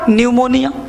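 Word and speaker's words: pneumonia: तो इसको हम लोग भी इन्होने निमोनिया पिओगे साइलेंट से पीछे हटा चुप हो गया तो पड़े हैं क्या न्यूमोनिया अब देखो पीस अलार्म नहीं यह प्रयोग या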